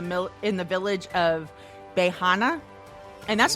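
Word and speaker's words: Beiyinhe: harbin in the middle in the village of bejana and that's spelled b-e-i-y-i-n-h-e but it's pronounced bahana um the entire 300 home village was leveled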